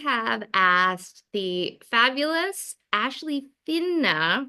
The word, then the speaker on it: Fina: How do you say your last name, Finna? Fina. Fina.